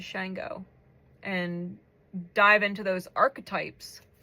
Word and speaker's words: Shango: I S H A and it's Shango, like mango but with sh on the at the front. You might want to really tune into them. Archangel Uriel and the Orisha Shango and dive into those archetypes, right?